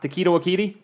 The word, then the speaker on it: Taika Waititi: Next thing is, got to remember I mispronounce this, Taika Ta- Taika Waititi.